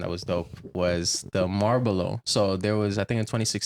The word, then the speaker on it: Marlboro: But one thing that I found that was dope was the Marlboro.